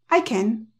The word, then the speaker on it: can: del mundo sí puedo prácticamente se pronuncia como con un sha Okay es como ya es como un sha intenta decirlo con una a muy muy muy muy corta pero lo importante es que el acento va es en el sujeto I can que sí